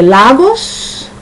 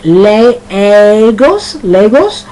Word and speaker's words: Lagos: Now, you can either say Lagos. Sometimes you can pronounce it that way, because sometimes a word has two pronunciations. You can either say Lagos, or Lagos. I say Lagos.